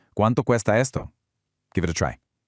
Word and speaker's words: Cuánto cuesta: ¿Cuánto cuesta esto? Listen carefully to the really crisp, hard C sounds at the beginning of those first two words. ¿Cuánto cuesta esto?